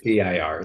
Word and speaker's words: DIR: Is it durr or DIR? I probably said it wrong. I apologize. DIR. It's an initial D.